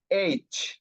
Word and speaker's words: H: সো এটার উচ্চারণ হচ্ছে এইচ, এইচ, এবং আঞ্চলিক উচ্চারণ হচ্ছে হেচ, হেচ, হেচ, ঠিক আছে।